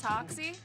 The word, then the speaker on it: Hoxie: on the Jazz tip a little too it's Hoxie on everything right spell it out for the people h-o-x-i-e right right